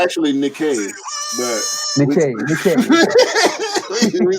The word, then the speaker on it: Nike: because it's definitely called Nike. I know there's a misconception when you read it like Mike, it's Nike. It's not, because the way it's supposed to be pronounced is after the Greek god Nike.